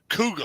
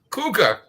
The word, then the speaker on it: Kuga: Kuga. I know. Kuga. Kuga. See, they can't spell right over either. Cougar. No. Kuga. Kuga. Yeah. Kuga. Kuga. And it's the same thing. Just say it like a Bostoner.